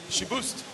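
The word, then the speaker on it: Chiboust: well now it's not here anymore you could pronounce it the way you were but if he was here saying she boost for sure so that's our educational lesson for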